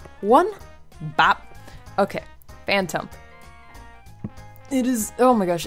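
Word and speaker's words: Phantump: look at so cute I love phanto I mean wow yeah Phantom yeah wow I almost said it wrong anyway um yes so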